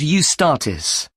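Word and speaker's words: Eustatis: there's a performance by a ballet company called UST statis sorry the name is spelled e u s t a t i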